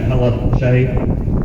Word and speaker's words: Palaszczuk: So guys, we've got an open letter addressed to the Premier of Queensland, Anastasia, palashay. That's how you pronounce it.